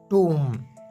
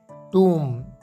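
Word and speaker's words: tomb: पहला लफ्ज़ है टूम। टूम, इसे आपने टॉम्ब या टॉम नहीं कहना है, बल्कि इसकी एक्यूरेट प्रोनाउंसिएशन है टूम।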